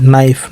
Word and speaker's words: knife: KNIFE, नाइफ, नाइफ का मतलब चाकू।